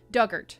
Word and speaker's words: Dugart: hubs on the island pronunciation Doug like past tense of dig and Orchard that rhymes with hurt Duggar duggert okay I can do